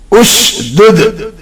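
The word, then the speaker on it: اُشْدُدْ: Generally, this silent alif gets the accent of third letter and pronounced as ushdud.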